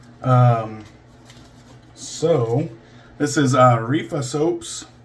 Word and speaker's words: Areffa: Um so this is uh Areefa Soaps. I should have checked the pronunciation on that. Areefa Areefa can't be that far off.